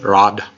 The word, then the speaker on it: rho: Rod. Rod. Yeah. But for pronouncing the letter, it's ro. Yeah, Right. ro, with a long O sound. Ro. Ro. Like row, row, row your boat gently down the stream.